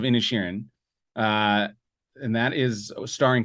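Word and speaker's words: Inisherin: already said it wrong it's not eatron uh any any Sharon the Banshees of innishin uh and that is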